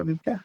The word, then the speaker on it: Wiebke: Yeah, Wiebke.